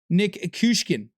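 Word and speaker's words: Nikishin: But he gets a 10 overall boost with 15 million salary when you pair him with Alexander Nikishkin.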